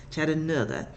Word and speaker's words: Chattanooga: Years ago, my sister and I were in Chattanooga, because that's how they say it, Chattanooga.